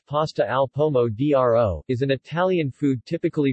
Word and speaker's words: pasta al pomodoro: pasta al pomodoro pronounced pasta alpomo dro is an italian food typically prepared with pasta